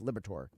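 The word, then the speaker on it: Liberatore: I always want to call him my Liberator because that's what his name looks like, but it's actually pronounced Liberator.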